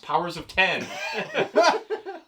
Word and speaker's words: Powers of X: powers of x which i later learned is pronounced powers of ten uh dubbed hawks pox respectively so to say